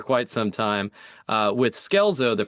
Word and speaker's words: Scelzo: So I compromised with him after kind of pushing back for quite some time uh with Skelezo the pronunciation you know changing the way that I